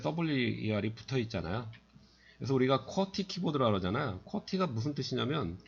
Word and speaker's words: QWERTY: 그래서 우리가 쿼티 키보드라 그러잖아요. 쿼티가 무슨 뜻이냐면 전혀 뜻이 없어요. QWERTY 쫙 붙어 있는 걸 그냥 붙여서 발음해갖고 쿼티라고 부르는 겁니다.